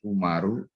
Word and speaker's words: Umar: Nah, di dalam bahasa Arab itu nama Amr dan Umar itu hanya selisih wawu di belakang ro saja. Jadi kalau di belakang ro itu ada wawunya, itu bacanya Amru, ya. Nah, nanti kalau dia ditanwin ya ada tanwinnya Amrun begitu. Ya, bisa Amron, bisa Amrin gitu. Tapi kalau di belakangnya itu enggak ada wawu, maka bacanya Umaru, ya.